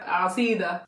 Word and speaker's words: asida: We have garasa, we have kisra, and we have asida. Can you say that? Say garasa. Garasa. Kisra. Kisra. And asida. Asida.